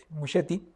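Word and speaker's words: Muschietti: Y de alguna forma también yo creo que que Museti, sí se pronuncia Mucheti, eh, dentro de la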